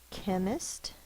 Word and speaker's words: chemist: K is spelled with a C-H when it's usually a Greek word of origin. Chemist is a person who deals with chemistry.